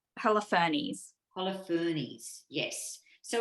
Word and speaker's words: Holofernes: It's Holofernes.